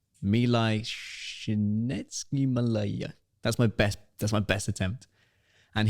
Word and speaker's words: Csikszentmihalyi: So there was a positive psychologist, and I can never pronounce his second name, Milai Csikszentmihalyi.